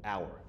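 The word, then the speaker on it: Auer: another Defence Doctrine called hour that's spelled a u r not like an hour glass hour and the court said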